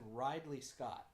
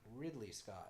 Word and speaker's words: Ridley Scott: crew should be proud of who you said ride Lee Scott I was gone Ridley Scott Ridley Scott you didn't know his name I'm mispronunciation okay well sorry Keaton let's move on